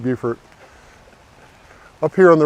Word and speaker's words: Beaufort: say it's beautiful buffer even though nobody knows why we pronounce it beaufort up here on the